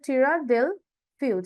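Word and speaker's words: Tierra del Fuego: southern most else of দেল ফিউজ এইটা হবে প্রোনাউন্সিয়ান টিরা দেল ফিউজ এটা তোমরা একটু মার্ক বা হাইলাইট করতে পারো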